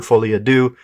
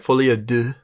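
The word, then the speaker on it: Folie à Deux: that it did we're reviewing this because Joker fly Ado is coming out I think it's part of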